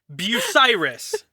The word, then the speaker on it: Bucyrus: Bucyrus. Okay. Thank you. Could you spell that phonetically for me?